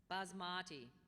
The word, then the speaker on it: basmati: Are there any alternate pronunciations? No, there are not. Trattoria. Trattoria. Trattoria. Basmati, a cultivated aromatic long-grain rice originating in southern Asia.